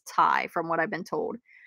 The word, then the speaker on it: Ty: it's a plush and it's thai not ty i always say ty but it's actually pronounced tai from what i've been